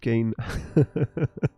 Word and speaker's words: Kane: gain there you go Matt says gain rhymes with G I like that so uh pain can gain can I like that what other positive words can we rhyme with Kane Dylan says Kane you'll